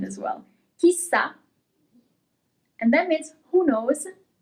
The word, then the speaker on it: chissà: Here you have an accent at the end as well. Chissà.